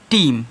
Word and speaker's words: team: TEAM, तो इसको देखिए यहाँ पे ई के बाद ए आ रहा है। अब इसको क्या पढ़ोगे, इसको आप पढ़ोगे टीम। क्या पढ़ोगे, टीम पढ़ोगे, क्योंकि ए को आपको साइलेंट कर देना है।